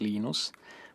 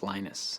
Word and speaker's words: Linus: I speak Finnish it's Lino's when I speak English its Linus and I really don't